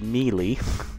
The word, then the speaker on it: Mealy: signed rookie Jared mealy I looked up how to pronounce this it is melee uh he is going